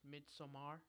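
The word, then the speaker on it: Midsommar: watch is it pronounced midsomar midsomar yeah because it's like a Swedish Thing yeah okay it's like a real thing no so if I say for the record I'm wrong yeah don't say Midsummer that's what I used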